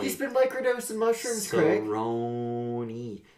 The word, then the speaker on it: Cerrone: He goes, Donald Cerrone. Donald. Cowboy. He's been microdosing mushrooms, Craig. Cerrone.